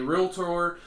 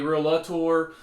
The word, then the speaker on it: realtor: pro that is the proper uh way to pronounce it a realtor not a real Love Tour uh again getting into the details but but